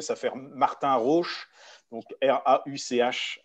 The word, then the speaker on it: Martin Rauch: Donc, c'est Martin Rohr, je le prononce à l'allemande, mais avec l'accent français, ça fait Martin Rauch, donc Rauch à la fin.